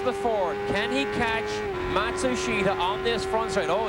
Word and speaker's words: Matsushita: Oh, he tells Machusta what he thinks or Matsushita, however you pronounce his name now. Yeah, they they change it about every 6 months. They say the pronunciation is now Matsushita.